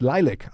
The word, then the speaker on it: LYLVC: Pronounced Lilac. Thank you very much. So the band is called Lilac, but it's written LYLVC.